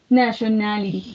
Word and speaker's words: nationality: Nationality. It has nationality. 5 syllables.